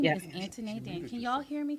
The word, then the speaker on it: Antoinette: name is Antoinette. Anthony. Antoinette. Anthony. But the Mm-hmm. way it's spelled, people look at it like it's Antone.